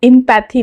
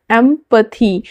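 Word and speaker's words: empathy: Next word है एमथी इसको इंपैथी नहीं प्रोनाउंस करना है। एमथी ई एम पी ए टी एच वाई एमथी का अर्थ होता है सहानुभूति।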